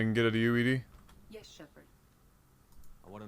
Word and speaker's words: EDI: is a jar why are you named Ed Ed is the phonetic pronunciation of EDI that is an acronym for